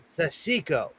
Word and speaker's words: sashiko: And okay, I'm gonna say it properly. Sash sashiko. Sashiko. I I used to add an N.